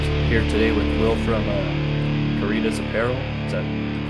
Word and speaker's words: Caritas: We're here today with Will from Caritas Apparel.